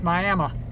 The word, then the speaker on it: Miami: Those of you, if you look it up on the map, it's spelled Miami, but the local pronunciation for it's Miami.